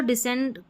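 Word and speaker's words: descend: असेंड और डिसेंड को कई फोनिक्स विशेषज्ञ एससी प्रोनाउंसिएशन पैटर्न में रखते हैं। यानी कि सी की अलग ध्वनि नहीं आती।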